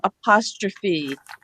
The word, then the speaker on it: apostrophe: So we do have some words where the E is pronounced. We have apostrophe, simile, recipe. We have a few words. There's maybe a dozen common words in the English language where the E is pronounced. And then there's ones that we run into. Apostrophe, hyperbole. Those are Greek. I think they're Greek influenced words.